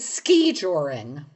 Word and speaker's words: skijoring: The word is skijoring. Skijoring. And that's how it's pronounced skijoring? Yes, emphasis on the first syllable. I would bet it'd be skee-yoring given the northern European.